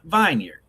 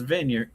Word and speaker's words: vineyard: Preston thinks vineyard is pronounced vineard. Argue with everyone in the room who was like Preston is vineyard.